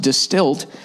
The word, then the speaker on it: DSTLD: terrible that's dad jeans distilled pronounced distilled has revolutionized the fashion